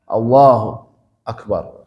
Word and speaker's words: Allahu Akbar: Dia memutus bacanya Allah Akbar. Kita pernah bahas waktu takbiratul ihram, ya. Tidak boleh diputus kayak gitu, kecuali diputus oleh waktu yang sangat pendek. Ya, Allahu Akbar.